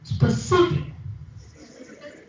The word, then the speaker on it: specific: less loud language in the second word the stress is on the second syllable specific specific now those who are